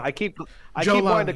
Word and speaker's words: Jolani: Jolani. I keep Jolani. wanting to call him Just Giuliani. think Jew and then like Lani.